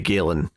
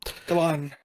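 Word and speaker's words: Galán: Doyle, and from art by Fran Galan, or maybe Galen, maybe how you pronounce that. Yeah, I know there's an accent on the last A, so I think you're right the first time. Okay. Galan.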